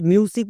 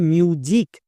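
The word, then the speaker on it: music: তাই পড়তে গিয়ে কখনো মিউজিক উচ্চারণ করছো বাট মিউজিক উচ্চারণ হবে না এর উচ্চারণ হবে মিউজিক কেন কারণ এম এর জন্য মোবার দেখো ইউ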